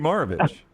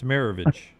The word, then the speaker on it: Maravich: Brownie, before I ask the last question, how do you pronounce Pistol Pete's last name? Different than us. Pistol Pete Maravich. It's Maravich. Okay. Right? I don't know. Pete's not with us anymore. I can't ask him how he wants it pronounced. I've never heard it pronounced Maravich before.